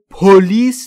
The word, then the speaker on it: police: پلیس که میدونید یعنی پلیس فقط تلفظش رو دقت بکنید و استرس درست رو باید روش القا بکنید چون پلیس نیست پلیس استرس روی بخش دوم و روی ال rarely